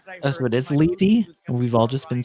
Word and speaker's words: Levy: One of those rumors I Oh, so it is Levy?